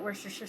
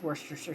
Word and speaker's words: Worcestershire: I call it Worcestershire sauce. I've heard all sorts of funny, cutesy names. It's Worcestershire sauce. Get over it. Just say it right.